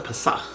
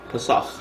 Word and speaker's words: Pesach: Oh, that's Pesach. Pesach.